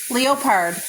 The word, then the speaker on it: leopard: And here's the other thing is leopard. Leopard. Leopard. Right, but do you know how to spell it? It's not Yeah, Leopard, it is spelled like L-E-O-P-A-R-D.